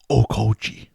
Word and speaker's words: Okauchi: Ichiro Okauchi. That's way better than what I did. That's how you pronounce it.